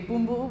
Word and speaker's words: Bumbu: Sometimes my grandmother, Bumbu, that's how you say it in Fiji, Bumbu would be out on